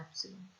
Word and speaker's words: epsilon: और ये जो एप्सिलॉन है इसको हम ऐसे प्रोनाउंस करेंगे EPSILON, इसको कहते हैं एप्सिलॉन।